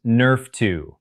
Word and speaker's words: NRF2: Your body has its own master anti-inflammatory switch controlled by a protein called NRF2, pronounced Nerf2.